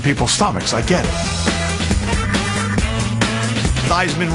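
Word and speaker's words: Theismann: changed his name from thieman to fman to rhyme with Heisman when he was at Notre Dame the perception that is associated with that could turn some people's stomachs I get it thyman rhymes with Heisman even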